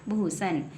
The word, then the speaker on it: भूषण: हुआ है भूषण तो बी एच यू एस एच ए एन बन गया भूषण तो बी के तुरंत